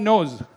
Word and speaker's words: nose: well nose nose okay what's the ending sound in the word nose is it s or is it like z z Z okay can you give